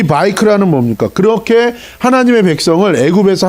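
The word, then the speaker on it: ויקרא: 그 다음에 레비티커스는 뭐라고 읽어요? 바이크라.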